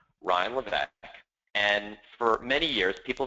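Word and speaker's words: Levesque: so my name is Ryan Le yes it's a crazy French name the S is silent Ryan LEC and for many years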